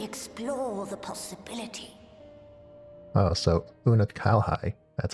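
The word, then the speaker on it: Unukalhai: I shall commence my work at once in concert with Unalhigh and rigorously explore the possibility. Oh, so Una Kalhai, that's how you say it.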